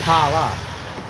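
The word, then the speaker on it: Phla: It's spelled P-H-A. Right here, let me show you the name of the bar. All right, this is the name of our town. Pala, right? The H is silent. It's Pala.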